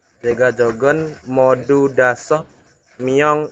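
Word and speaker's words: 모두: Siapa tuh yang baca moda ya? Modu ini ya Robun, bukan moda.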